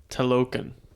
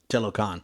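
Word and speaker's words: Talokan: we gotcha the suspense telokin t-a-l-o-k-a-n telecon yeah telecon all right cool tell Logan tell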